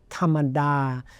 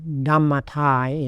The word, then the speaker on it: dhammatā: It's tamada, or in dhammata, in how we would pronounce it in English.